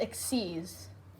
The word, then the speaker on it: Xyz: so now we have my favorite summoning technique exceeds summoning so they have a black border and it is even though it says xyz xyz it's actually pronounced x c's like e like e e x e e